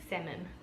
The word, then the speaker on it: salmon: The next one I would say salmon. Salmon. Okay. So, you don't pronounce the L?